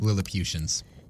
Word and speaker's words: Lilliputians: Lilliputians.